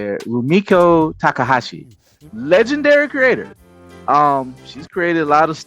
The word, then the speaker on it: Rumiko Takahashi: Rumiko Takahashi, legendary creator.